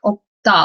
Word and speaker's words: 없다: It does not have the S sound kind of, so it's like 없다, like you don't really hear the S sound, as in this case 없어.